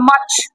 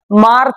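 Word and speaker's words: March: হবে না ব্রিটিশ অনুযায়ী আর এর পরে কনসোনেন্ট থাকলে উচ্চারণ হবে না যেমন এম এ আর সি এইচ আমাকে বলতে হবে মাচ জানুয়ারি ফেব্রুয়ারি মাচ মার্চ না মাচ মাচ ওকে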